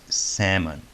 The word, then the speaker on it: salmon: is written like this but this is a salmon notice that there is no l right so this is salmon it's very important that